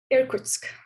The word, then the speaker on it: Irkutsk: How am I supposed to pronounce it? Irkutsk.